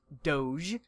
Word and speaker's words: Doge: Yeah, and also to finalize this, it's pronounced Doge.